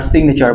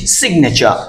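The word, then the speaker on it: signature: right এখন থেকে আর সিগনেচার বলব না আমরা কি বলবানাচার এখানে আর উচ্চারণ হবে না সাথে বলুন সিগনেচার সিগনেচার সিগনেচার সিগনেচার সিগনে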